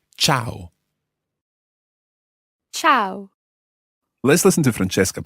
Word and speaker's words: ciao: spelled CH or W but it's not it's Chow Chow let's listen different Cheska pronounce this word tchau tchau now the interesting